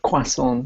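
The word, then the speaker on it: croissant: I say the word quason nicely ah quason is the correct cor correct pronunciation as opposed to cant if you're a lazy American and don't say my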